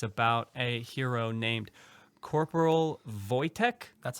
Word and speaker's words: Wojtek: He's going to talk to us about a hero named Corporal Wojtek. That's how you pronounce it.